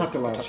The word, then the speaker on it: Patalas: With this process, there was a 30-year sequence of time in which people like Enno Patalas, am I pronouncing that correctly? Patalas, yeah.